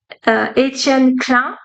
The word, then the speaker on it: Etienne Klein: So this example I love because it comes from a French astrophysicist, Etienne Klein. I say it right because he's French.